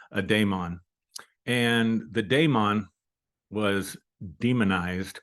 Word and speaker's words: daemon: philosophy which is Deon it's pronounced with an a instead of an E A Damon and the donon was